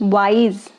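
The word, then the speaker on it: Y.Y.: Okay, which means wise. Getting it? YS. You can pronounce it wise.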